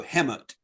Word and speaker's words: Hemet: sound, that is a word being spelled out phonetically, they do it H--m. So, HemT kind of. Wow. It's a stupid town name. Danny Dre or uh anybody who lives out in Hammet, if you live if you listen to this,